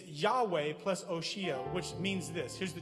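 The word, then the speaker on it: Hoshea: But his name was Oshea, spelled like Hosea, Oshea, which means in Hebrew, salvation.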